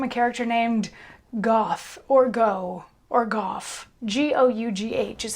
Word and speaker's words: Gough: say vincent van gogh the name is probably pronounced like goff or something like that and not go but anyway this particular